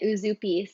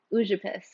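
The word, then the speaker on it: Užupis: I was calling it Uzupis, but it's actually Ujupis, which is the smallest republic in the world.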